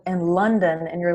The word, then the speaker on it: London: that it is pronounced, the vowel is pronounced in a very weak way, like London, like London, and we have our native language and we try to make the connection.